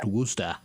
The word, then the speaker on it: Worcester: it's not spelled like that, but it's pronounced Worcester.